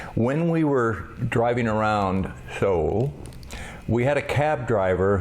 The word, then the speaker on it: Seoul: Americans never pronounce that right. Seoul. It's Seoul, South Korea.